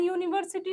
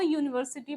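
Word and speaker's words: university: ठीक है, क्योंकि स्टार्ट ये किससे हो रहा है, वॉवेल से हो रहा है, बट ये प्रोनाउंस हम लोग करते हैं, ये यूनिवर्सिटी करते हैं, मतलब वाई साउंड प्रोड्यूस हो रहा है, तो इसमें हम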